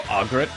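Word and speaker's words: Agrat: Or Argret, to pronounce her name properly.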